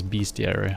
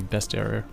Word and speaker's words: bestiary: in the bestie area i've always thought about the word bestiary as beastie area i think i've heard people say it like that but i think it's actually supposed to be best area right which makes sense that's how it's spelled uh i guess the